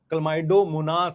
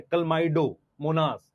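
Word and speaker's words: Chlamydomonas: Green algae में मेरे साथ बोलो, क्लमाइडोमोनास, क्लोरेला, स्पाइरोगायरा, यूलोथ्रिक्स। मैं मतलब ये आपको श्योर बोल सकता हूं, बहुत सारे बच्चे इसको ठीक से प्रोनाउंस नहीं कर सकते। क्लमाइडोमोनास है, क्लमाइडोमोनास, क्लोरेला, स्पाइरोगायरा, यूलोथ्रिक्स, कारा, चारानी कारा, क्लैडोफोरा, वॉलवॉक्स, यूडोरीना।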